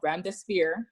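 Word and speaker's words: remdesivir: make a copenhagen drug it's called brenda spear that's how i'm told to pronounce it they announced an open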